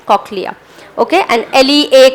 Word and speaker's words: cochlea: English language में हम सिलेबिकेट करते हैं, मतलब COCH इज one sound, a slash, so that's cock, and then you pronounce it as cochlea, okay, and LEA का अलग pronunciation।